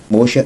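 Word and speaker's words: Moshe: todos os livros de moxa Mocha é como se pronunciava o nome de Moisés em aramaico visto que o Derek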